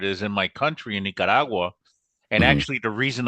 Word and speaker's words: Nicaragua: flying those missions in Nicaragua during the Iran Contra in Don't say it like Kalamazoo, that. Ohio. It's Nicaragua.